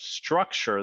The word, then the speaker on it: StruXure: and chief product architect of structure that's spelled s-t-r-u-x-u-r-e founded in 2011 Scott had simply